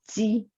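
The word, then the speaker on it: 鸡: In Mandarin, we pronounce it ji.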